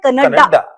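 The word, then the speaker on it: Canada: भाई कोई कमेंटेटर्स को जाकर ये समझाओ कि कनाडा प्रोनाउंसिएशन नहीं है, करेक्ट प्रोनाउंसिएशन है कनाडा।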